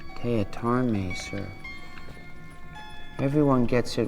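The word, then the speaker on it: Teatime: Tea Time. It's pronounced Teatarme, sir.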